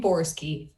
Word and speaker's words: Borski: And I pronounce my name Borski. It's not phonetic, but that's the way I do it.